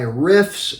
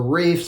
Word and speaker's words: Riiffs: really good clone by riffs or reefs I think it's pronounced riffs as in this is their riff of Prada alone this is called